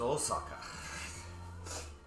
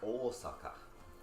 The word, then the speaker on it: Osaka: on the list is Osaka you say like Osaka not Osaka all suck how are